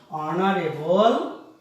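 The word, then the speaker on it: honourable: শি is dash H ও এন ও আর এ বি এল, অনারেবল lady.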